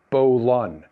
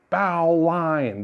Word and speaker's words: bowline: a stopper knot this one is called the bolon yes i know the word is spelled bowel line and pronounced bo lun but there's a reason for this it was